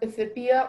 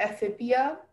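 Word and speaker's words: ephippia: It's pronounced aphibia or aphibia.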